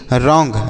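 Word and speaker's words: wrong: डब्लू आर ओ एनज रॉन्ग रंग का अर्थ होता है बच्चों गलत क्या होता है गलत होता है देखिएगा यहां पर जो डब्लू लिखा गया बच्चों यह साइलेंट है इसको नहीं पढ़ेंगे तो रॉन्ग मतलब क्या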